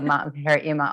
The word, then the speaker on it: Eema: They called her EEMA all the time. And really they spell it IMA, which is how you spell it traditionally, but I just knew in North America, at least, people would say IMA.